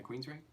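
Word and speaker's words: Queensrÿche: is Queens Reich so how do you say that yeah Queens right like the band never heard oh yeah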